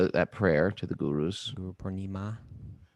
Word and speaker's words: Guru Purnima: Guru Purnima. It's a Guru Purnima. You know, you're a Purnima? linguist. Someone yeah, it's a long A on the end there. Guru Purnim. Ma.